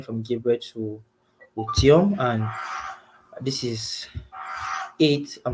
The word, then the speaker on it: Otium: It's actually Otium. It's not difficult at all.